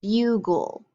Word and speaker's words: bugle: This is a bugle, bugle, because it has that gul at the end, bugle.